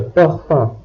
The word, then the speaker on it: parfum: In this case, O and N combine to produce a nasal sound. Le parfum.